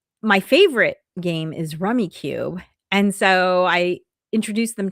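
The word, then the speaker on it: Rummikub: So I grew up playing Rummy Cube or Rummy Cub. It doesn't have an E at the end, so I'm never sure how to pronounce it.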